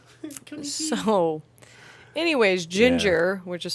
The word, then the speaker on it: Jinjer: main subject matter uh ginger so anyways ginger which is spelled j-i-n-j-e-r yeah not the actual like color